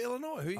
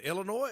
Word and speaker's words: Illinois: here we go okay it's Illinois not Illinois Tom that completely depends where you're from Lincoln County it's Illinois Illinois there's a s on it it's Illinois that's how you say it but it's okay